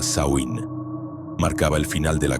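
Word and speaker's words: Samhain: Ellos llamaban a esta fecha Samhein, que se pronuncia Sain.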